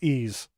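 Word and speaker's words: Ys: but uh it was according to the official developers pronounced ease as an e a s e e's why they decided to put a y in front of there so you want to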